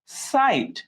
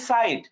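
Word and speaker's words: site: না এখানে উচ্চারণ হচ্ছে সাইট এটা আমরা কিভাবে বুঝবো গতদিন যারা ক্লাস করেছ গতদিন ক্লাসে কিন্তু আমরা বলেছিলাম লাস্টে ই যদি থাকে এবং সেটা যদি সাইলেন্ট থাকে যেমন এখানে কিন্তু আমরা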